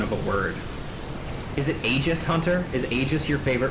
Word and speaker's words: Aegis: I didn't know that Aegis was pronounced like that for the longest time. I thought it was pronounced Aegis. But Hunter is very, very vocal of his dislike for that pronunciation in particular, and that Aegis was the correct pronunciation.